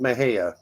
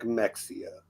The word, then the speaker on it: Mexia: it's burning yes like there's a town called Maha but it's look if you read it it looks like Mexia like yeah but that's